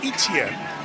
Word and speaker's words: Etienne: Travis Etienne, which is been pronounced when of brother's been around as Etienne.